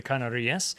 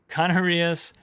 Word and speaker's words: Canarias: Canarias. Well, in Spanish, typically you put the accent, unless otherwise accented, you put the accent on the second to last syllable.